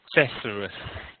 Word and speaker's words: thesaurus: So remember, and the pronunciation is thesaurus.